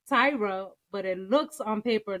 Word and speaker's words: Tahira: So her name is Tyra, but the way she spells is different. Tahira. Okay. Which we happen to Google, and it says pronunciation. You do pronounce the H, but how you gonna